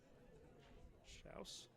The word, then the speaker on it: Schaus: Schaus. Spelled like house with an S in front of it.